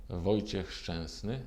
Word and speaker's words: Wojciech Szczesny: Which is the correct pronunciation of your name? Wojciech Szczesny. You can hear it, but you will never be able to say it.